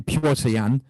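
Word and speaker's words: Petr Yan: But, yeah, I should say his name correctly, Piotr Yan.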